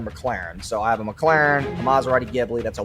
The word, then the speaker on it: McLaren: times in a row it's not McLaren it's m Claren okay so that's how